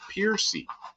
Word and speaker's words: Percy: whoever he was, but we knew him afterwards, and he pronounced it Piercy. And it looked just like that, Percy, P-R-C-Y. And he pronounced it Piercy, which I always thought was so strange.